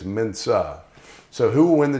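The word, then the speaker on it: Mensah: the job I heard more people call him Mena that's not how you say his name it's Mena so who will win the job the guy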